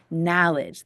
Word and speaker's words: knowledge: open in passion to knowledge the K is silent for This Acronym K is always silent in knowledge and sometimes we do